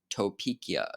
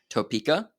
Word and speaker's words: Topeka: Brown verse Board of Education of Topia to sorry for the pronunciation Topeka there we go all right pause